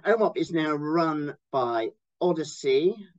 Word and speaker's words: OHDSI: And OMOP is now run by Odyssey. It's another slightly annoying acronym in that they pronounce it Odyssey rather than OHDSI.